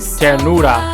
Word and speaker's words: Ternura: Ternura. That's how you pronounce it.